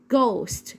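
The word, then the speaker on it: ghost: طب وليها اصوات تاني برضو الجي والاتش لو جت معايا في اول الكلمه بنطقها ازن ج، زي كلمه ايه؟ جوست اللي هي معناها شبح.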